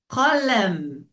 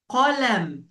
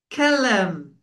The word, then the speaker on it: قلم: This one, it's called قلم. قلم. The people who say are not Arabs, they said كلم. كلم. No, it's not correct. We should pronounce it the letter قاف.